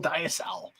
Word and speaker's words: diacetyl: I get a distinct diacetyl tone, or is it diacetyl? Diacetyl. It's like the diabetes. You can actually. The funny thing is, you can actually pronounce it either way.